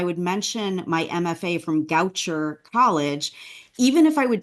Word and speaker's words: Goucher: also verbally tell them I went to Goucher rhymes with voucher so that was something